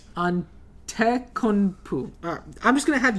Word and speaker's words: Antetokounmpo: I'm going to just show it to you because Antetokounmpo is how it's pronounced, but I'm not about to spell that right. Antetokounmpo.